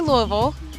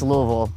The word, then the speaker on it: Louisville: Louisville, not Louis-vull. It's Louis-vull. You got to get that vull. I say Louis-vull. But when I talk about my home, I say West Louisville. Yeah, it's Louis-vull.